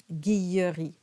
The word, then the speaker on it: Guilleri: m is silent and you have that yes sound with the Double L guilleri then we have tolera